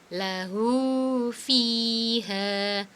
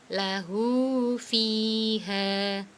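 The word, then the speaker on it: لَهُ فِيهَا: Lahu fiha. Ya, ini fi dibaca panjang karena ada kasroh diikuti ya sukun, ha dibaca panjang karena ada fathah diikuti alif. Sekali lagi, lahu fiha.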